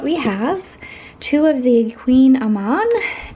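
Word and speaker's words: kouign-amann: have two of the queen Aman these are the ones that are spelled funny it's spelled k o u g i n space a m o n and you say it Queen Aman those are really good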